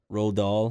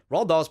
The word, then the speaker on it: Roald Dahl: Rahl doll books how you say his name Roald Dahl Roald Dahl yeah oh yeah although he wrote